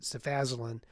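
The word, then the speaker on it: cefazolin: We've talked by we we mean I about the equivalency of sephosolin or as my pharmacist pronounce it sephaselin and napsylan in the treatment of staff infections.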